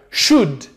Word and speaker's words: should: should should percebe novamente o l não é pronunciado should should deveria you should